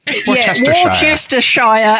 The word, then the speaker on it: Worcestershire: Worcestershire, as the Canadians taught me to say it.